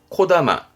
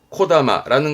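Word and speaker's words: 木霊: 나무의 정령인데 발음은 코다마, 코다마라는 거는 보통 나무에 혼이 깃들어 있다는 얘기니까 산에 가서 야호 그러면 울려 퍼지는 그 메아리를 이렇게 쓰기도 합니다.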